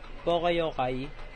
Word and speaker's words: poka-yoke: Also called poka-yoke, well saying mistake cropping, or its Japanese equivalent, poka-yoke, pronounced poka-yokai, is the use of